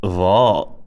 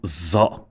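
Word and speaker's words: ظ: So dha is a flat version of dhal. If you can say dhal, then you can say dha. Just because the people around you all pronounce it za, Sadaqallahu al-Azim, doesn't make it right.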